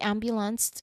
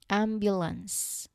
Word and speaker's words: ambulance: The ambulance arrived. There's no T sound at the end. Okay, I'm sorry for that. Let's go over again. Ambulance.